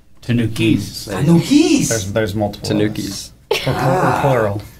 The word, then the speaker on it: Tanukis: Yeah, the S is actually pronounced Tanukis.